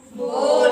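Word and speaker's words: bowl: बहुत सारे लोग इसे बाउल प्रोनाउंसिएट करते हैं, लेकिन इसका रियल प्रोनाउंसिएशन क्या है? बोल। बोल। ठीक है, इसको कई बार मतलब ऐसे बोल देते हैं कि क्या बाउल, बट आपको बोल बोलना है।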